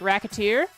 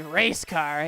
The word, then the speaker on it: Recettear: Recettear, which they make a joke about in the Recettear game, where if you look at it and say it wrong, it sounds like racketeer. Recette. I think it's Risette, so I'm gonna go with A. It's actually race car.